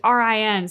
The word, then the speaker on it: Rin: Ren I help him it's not like they were saying rain but it's Rin so I think there's